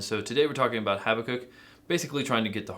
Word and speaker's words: Habakkuk: So I think as long as we get it close to Habakkuk, I almost messed it up there too, or Habakkuk, depending on where you want to put the emphasis on the syllable.